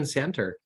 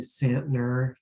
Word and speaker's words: Santner: how to pronounce it there's another n that's hiding behind the T there so it's actually santner thank you it's like